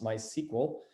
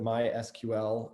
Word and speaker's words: MySQL: a lot of science i learned how to pronounce my sequel and tickle that it wasn't mysql and tcl so that was cool